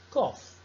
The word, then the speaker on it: cough: Nela, você tem que pronunciar o GH como se fosse um F. Laugh, tough, enough, cough. Essas palavras você vai pronunciar como F, fica assim até um